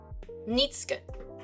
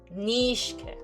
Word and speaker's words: Nishka: Nitska. That's how I will pronounce it. But I don't know if that's okay. Nishka. Ah, okay. I think the way I said it was more German like That's the Russian version.